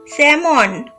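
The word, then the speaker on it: salmon: নমস্কার বন্ধুরা, আজকে আমরা শিখব বিভিন্ন ধরনের মাছের ইংরেজি এবং বাংলা নামের উচ্চারণ এবং বানান। তো চলো ভিডিওটা শুরু করা যাক। S A L M O N স্যামন।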